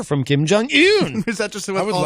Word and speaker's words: Kim Jong-un: I'm a stickler for pronouncing things correctly. Yes, it's Kim Jong-un.